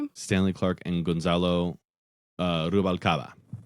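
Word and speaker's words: Rubalcaba: Uh Rubalcava. Wow. Rubalava.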